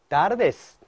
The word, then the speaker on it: tardes: Buenas tardes. Buenas tardes. Buenas tardes. 그렇죠? Buenas tardes. Tardes. 그렇죠? 예, T, tardes 아니고요. 그다음에 tu, ta, te. 예, 일간처럼요. 따 발음입니다.